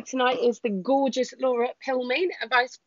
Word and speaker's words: Pilbeam: With me tonight is the gorgeous Laura Pilbeam. Have I pronounced your name correctly, Laura? Pilbeam.